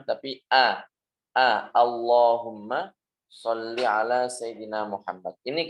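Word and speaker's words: اللهم: Akbar bukan Allahu akbar Itu juga kalau banyak sholawat Allahumma sholli ala sayyidina muhammad bukan Allahumma tapi a a Allahumma sholli ala sayyidina muhammad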